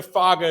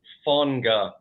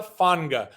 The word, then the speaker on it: Faga: Isaiah Fonga. Okay, again, it's one of those tricky Hawaiian things where they put an N in the pronunciation, but there is no end. It's the opposite of a silent letter.